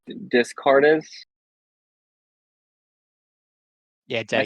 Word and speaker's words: Descartes: Even if I'm going to say his name wrong, Descartes. Yeah, Am I saying that Descartes. right? Yeah. Descartes.